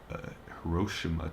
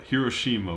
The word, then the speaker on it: Hiroshima: like I've heard like growing up it was always um now I can't even remember how to say it Hiroshima Hiroshima was how it was always said when I was like a kid now everywhere I hear it's Hiroshima like is that like is